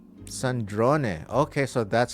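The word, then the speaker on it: Sandrone: Sandron. Okay, so that's how it's pronounced. I I keep saying Sandrron, but Sandron, let me let me hear that again.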